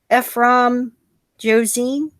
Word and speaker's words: Ephrom Josine: I'm your host, Ancapa Kitty, with returning guest Zachary and a new guest, Ephrom Josine. Is that Yep, how you pronounce it?